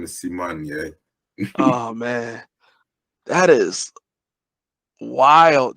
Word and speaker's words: Symoné: See-Mon-Yay. Yeah, See-Mon-Yay. It's never gonna happen. And the problem is that like it's spelled Simone.